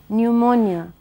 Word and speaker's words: pneumonia: in the second word pneumonia it begins with P but the the P in the spelling is not pronounced then you have h